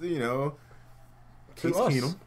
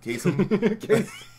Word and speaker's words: Case Keenum: Casey Keenum.